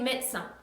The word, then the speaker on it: médecin: Je suis médecin, je suis médecin 해서 똑같아요. médecin은 짧고 빠르게 발음해 주셔야 돼요.